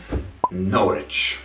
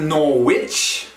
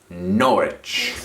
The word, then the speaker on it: Norwich: town in east anglia norwich not norwich not norwich the r and the w you try to condense letters and sounds into one norwich number five my personal